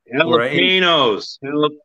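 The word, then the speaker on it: jalapeños: It's pronounced like a W in Spanish. Jalapenos.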